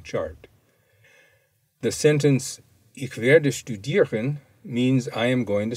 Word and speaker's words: studieren: And notice that the ST has the sound of sht, S-H-T. See the glossary for the difference between studieren and lernen.